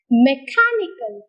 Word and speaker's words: mechanical: look at one more example mechanical mechanical here mechanical so where do you get this prominence of syllable on car car so car is heard much more louder higher longer than the other syllables in the world mechanical let's go to another